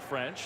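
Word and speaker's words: Ffrench: It's French with 2 Fs. Maybe fortitude. Does that still sound the same? It does. You still pronounce it French.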